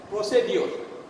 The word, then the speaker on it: procedure: In Bangladesh, we pronounce it mostly as procedure. Procedure. But procedure is a wrong pronunciation. If we say procedure, that is wrong. What is correct? Procedure. Here again, the raw sound is omitted.